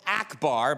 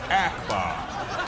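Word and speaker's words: Ackbar: you are dead wrong the character's name is pronounced Akbar now maybe it was Akbar back in 1983 when the movie first came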